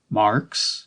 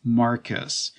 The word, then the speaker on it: Marquess: "Marks?" he asked. It's Marcus. Yeah, it's spelled Marquess, but it's pronounced like Marcus.